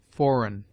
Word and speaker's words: foreign: G is mute before N, as gnash, sign, foreign. G before I is hard,